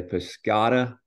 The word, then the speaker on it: Pisciotta: my friend today and help me pronounce the last name is it Pata is that how we how we say the